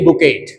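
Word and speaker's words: bouquet: मैंने टी नहीं लगाया टी य बोलता नहीं है इसे बोलते बुकेट बी ओ क्य यू ई क्य यटी बुके मीस होता है ए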